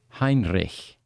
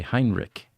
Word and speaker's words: Heinrich: Heinrich he says if did you notice how I pronounce that by the way Heinrich in you in the U.S English people say Heinrich right well Germans know how to pronounce CH that combination turns it into us into a now you you've